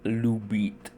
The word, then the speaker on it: любит: For instance, Любит is just a conjugated form of the verb Любить (to love, Любит, Любить). Even though there isn't quite vowel reduction here, there is still a clear pronunciation difference as you can hear, and it mainly comes down to shifting stress.